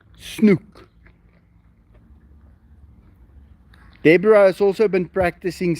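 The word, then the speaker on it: snoek: n o e k we use that o e as a ooh sound snook Deborah has also been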